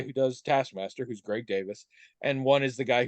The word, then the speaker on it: Davies: definite possibility the name is Welsh and it is traditionally pronounced Davis some people pronounce it Davies and I understand also